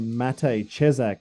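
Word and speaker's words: Matěj Česák: if people don't know who matate chesak is that's how you say his name he's a young kid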